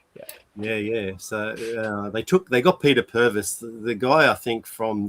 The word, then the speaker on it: Purves: Well, there's a whole YouTube thing, and they got Peter Purves, who is it Purvis? I think they pronounce it Purvis.